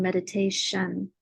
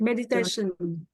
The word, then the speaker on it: meditation: end chance and donations and meditation that sh sound where the t is like meditation so I think the